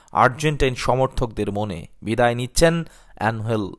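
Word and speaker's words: Ángel: সমর্থকদের মনে বিদায় নিচ্ছেন অ্যানহেল ডি মারিয়া অবশ্য বাংলা উচ্চারণটা আনহেল ইংরেজিদের নামের বানানে এঞ্জেল অনেকে উচ্চারণ করেন এঞ্জেল নামেই ডিমারিয়া অ্যাঞ্জেল রূপে হাজির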